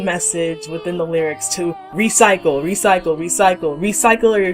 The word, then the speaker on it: Re_Cycle: 2nd 2009 and yes we have to pronounce it as re cycle instead of recycle because of that underscore that's in the title but that's of no